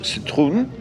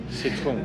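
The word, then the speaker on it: Citroën: This is the Citroen C5, or if you want to be precise, in French, Citroen. Citroen. Yeah, which is how you would pronounce it.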